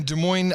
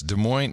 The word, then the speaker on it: Des Moines: don't ah yes so I'm here in a Des Moines Iowa John as they like to call it Des Moines yes Des Moines now this was called Des Moines they do not they absolutely do not call